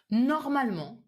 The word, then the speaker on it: normalement: So you wouldn't say normalement, régulièrement. The pronunciation would be normalement, régulièrement. Almost as if this E was not there.